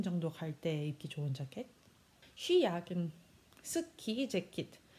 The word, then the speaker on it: Skijacke: 쉬 야킨, 스키 재킷. 이 스키가 아닌 쉬라는 것만 유의하시면 됩니다.